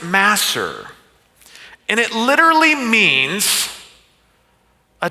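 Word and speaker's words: מעשר: It's uh masser is the word. Here is the Greek uh imagery of it or the words or sorry Hebrew. It's a Hebrew word, but it's pronounced masser.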